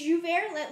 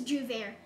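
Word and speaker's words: J'ouvert: Is it Jouvert? Let me just check, because I know someone wrote in the comment section on my reaction. Is pronounced Jouvert. Or maybe it's Jouvert? I don't know. I think it's Jouvert. Correct me if I'm wrong.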